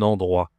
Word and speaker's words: endroit: Un endroit. Attention ici c'est la consonne, d'accord ? Un endroit. Ici tu as une nasale aussi le en endroit. D'accord ? Un endroit.